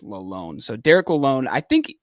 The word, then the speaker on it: Lalonde: um I think alone I think technically I said Lalonde earlier in them so but I think I heard on TV that he technically wants it pronounced alone so Derek alone I